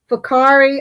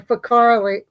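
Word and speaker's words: Whakaari: So see, I'm gonna stammer because I'm looking at it and I want to say w because it's wh but it's fa cuz in New Zealand their whes are RFs.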